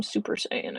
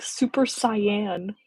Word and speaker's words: Super Saiyan: Macy's Thanksgiving Day Parade they pronounce uh Super Saiyan wrong for those uh who watch the Macy's Thanksgiving Day prid who might know what I'm talking about it's to me just really funny they pronounce it wrong like every year she calls it like super cyan like the color and it's so funny